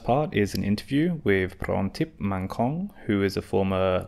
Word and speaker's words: Prontip: Is that the correct pronunciation? Prontip Thank you.